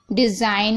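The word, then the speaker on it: design: डिज़ाइन में भी देखिए जी साइलेंट है। ओके, साइन में भी देखिए जी साइलेंट है, और डिज़ाइन में भी जी साइलेंट है।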